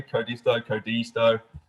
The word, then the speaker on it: Codisto: of the business at Codisto. Depending where you're from in the world, it's pronounced slightly differently. Codisto, doesn't matter as long as you remember the spelling.